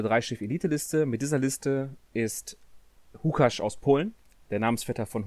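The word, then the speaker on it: Łukasz: Anscheinend spricht man Lukasz auf Polnisch Hukasz aus, wieder was gelernt.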